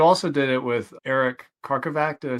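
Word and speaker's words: Karkovack: And you also did it with Eric Karkovac.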